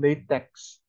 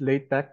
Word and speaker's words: LaTeX: then we said about the way it's called late Tech it's not called latex because X here is actually uh the uh